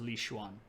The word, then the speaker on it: Liu Xuan: X's, when we use them in English to define Chinese words, are pronounced like SH. So this is Li Xuan.